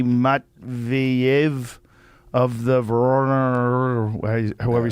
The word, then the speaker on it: Voronezh: It's Voronezh.